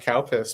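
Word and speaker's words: COWPS: Hey, Council on Wage and Price Stability, which was in fact pronounced Calpis, but anyway, the um I never thought of that.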